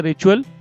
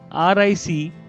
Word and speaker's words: ritual: Similar to it, this is a ritual which is developed every single day for the rest of your life. So what is ritual? It is not RITUAL. It is spelled as RICHUAL.